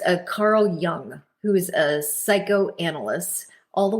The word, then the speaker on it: Jung: you're gonna google it Google Carl Jung Jung but it's Carl Young Carl yeah it's spelled ju u n g and he talks about